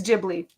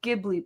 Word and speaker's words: Ghibli: watch the video it's Ghibli I forgot why it because it actually means something in Japanese and it's a j so it's spelled Ghibli but they say it in Japanese Ghibli I actually like watched